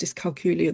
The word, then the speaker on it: dyscalculia: But you must have been pleased when I pronounced dyscalculia the right way, because I knew what the condition was.